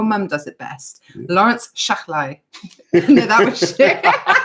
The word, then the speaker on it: Shahlaei: So it's Shahlaei. It's, Laurence Shahlaei. Shahlaei.